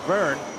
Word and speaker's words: Vergne: Then the two Tito drivers, Sarzan and Burn, which rhymes with slow burn, which may be what the Frenchman is doing right now.